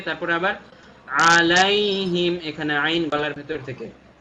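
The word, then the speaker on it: عَلَيْهِمْ: তারপরে সিরাতাল্লাযীনা আন'আমতা আলাইহিম, দুইটা জিনিস খেয়াল রাখবো। আন'আমতা আইন গলার ভেতর থেকে, তারপরে আবার আলাইহিম এখানে আইন গলার ভেতর থেকে। আন'আমতা আলাইহিম, আবারও বলছি সিরাতাল্লাযীনা আন'আমতা আলাইহিম।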